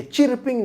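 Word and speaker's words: chirping: तो चर्पिंग, तो CHIRP है, चिरपिंग नहीं कहेंगे वहाँ पर, चर्पिंग कहेंगे।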